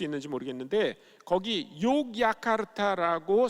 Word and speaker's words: 욕야카르타: 이 그 인도네시아는 네덜란드의 지배를 오래 받았는데 네덜란드 사람들이 자기네식의 스펠링을 가르쳐 준 거예요. 그래서 그 사람들은 J라고 쓰고 Y라고 읽습니다. 그러니까 원래 그 도시의 이름이 욕야카르타인데 그거를 J라고 썼기 때문에 어떤 사람들은 그냥 그 도시를 족자카르타라고 읽습니다.